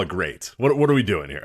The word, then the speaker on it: GLEAT: glee thing or we're going to call it great what are we doing here i i want to make sure that we are it's spelled glee i think you're supposed to call it great but i think and i just want to